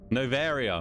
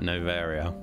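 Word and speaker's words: Noveria: and then i say it wrong again novaria all right novaria okay see if i can remember that for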